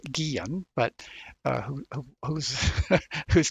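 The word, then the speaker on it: Guillén: for those out there and Spanish surname that would be pronounced Guillen but uh who who's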